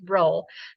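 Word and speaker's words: rho: population correlation coefficient is looks like this funny P it is pronounced row that is a symbol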